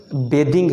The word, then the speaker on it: bathing: ये लफ्ज़ बेदिंग है, बेदिंग।